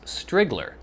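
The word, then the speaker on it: Striegler: didn't realize the difficulty the i is lowercase and the e is silent so is he saying strigler it's spelled s-t-r-i-e-g-l-e-r which to me looks like strigler but he says strigler look forward to hearing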